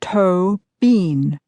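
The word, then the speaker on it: Tóibín: It's pronounced toe bean. Like toe, and then bean.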